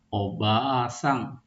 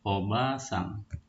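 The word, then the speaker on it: おばあさん: asang itu salah Kemudian contoh berikutnya obasang bukan obasang tapi obasang.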